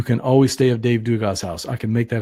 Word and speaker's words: Dugas: Yeah, Dave Dugas. That's nice. Yeah. Rhymes with sugar. Not quite, but yeah, we'll make a Cajun out of you someday, man.